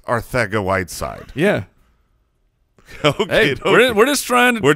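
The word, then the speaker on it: Arcega-Whiteside: r theta white side with a th sound that is what we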